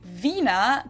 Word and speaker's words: Wiener: in German we say Vina the German W is pronounced like an English V and it usually refers